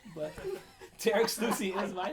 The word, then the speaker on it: Tarik Sloussi: So this is Tarek Sluicy. Am I You pronouncing pronounced this? it right. Thank you. More commonly known by all my clients as Tariq Slousy, but Tarek Sluicy is my name.